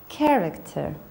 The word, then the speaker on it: character: Anchor, ღუზა, school, სკოლა, character, პერსონაჟი, გმირი, choir, სასიმღერო გუნდი. So, CH we pronounce as K, school, anchor.